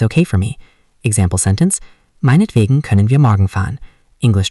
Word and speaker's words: Meinetwegen: Pronunciation, meinetwegen.